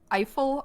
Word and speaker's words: Eiffel: And there's this guy, I can never pronounce his name correctly, but it's Eiffel art. That's how I say it, like Eiffel, like the Eiffel Tower.